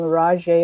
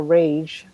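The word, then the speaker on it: Raje: mark o'connell airy a-i-r-e-y r-a-j-e is the name rajay or rage however he wants to pronounce it and richard craze c-r-a-z-e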